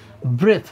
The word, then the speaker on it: breath: ব্রেথ, BREATH, মানে শেষে ই থাকে না। ঠিক আছে, এটার উচ্চারণ হচ্ছে ব্রিথ দ, এটা হচ্ছে ব্রেথ থ।